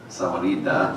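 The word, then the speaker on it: Sahuarita: But if you haven't read our website, last night I was talking to our mayor, and Sawanita, that's how you say it, has decided that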